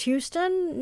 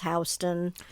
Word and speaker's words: Houston: hilarious because they have a town called what i thought was houston no it's houston um they have scrabble they